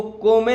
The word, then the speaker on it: come: इसको को में नहीं पढ़ेंगे, इसको हम पढ़ेंगे कॉम। क्या उच्चारण होगा इसका सही? COME का कॉम।